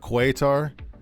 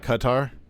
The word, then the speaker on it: Qatar: So it's not quar. It's not coutar. Well, how should I know? If you have a qu, it's pronouncedqa. That's I mean I don't know. Am I Am I a mad man? Um, how do It's Arabic. It's more like Qatar.